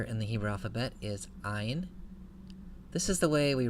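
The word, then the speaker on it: ע: For our purposes, the ayin is pronounced just like the aleph, so it sounds like the glottal stop in a word like honest. In ancient Hebrew pronunciation and in modern Arabic pronunciation, the ayin has a distinct sound from the aleph, but for the purposes of biblical Hebrew, we can pronounce them the same.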